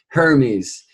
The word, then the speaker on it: Hermes: Justice Jays me justice I'm told that's better pronounced Hermes mercury her means all